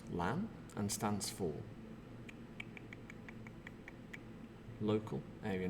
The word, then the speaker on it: LAN: will check the answers together so LAN is pronounced LAN and stands for local area network in a